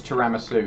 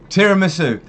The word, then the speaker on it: tiramisu: that's wrong photosynthesis photosynthesis just don't ask him ever to pronounce taramuslu because it's wrong tiramisu come on all you guys who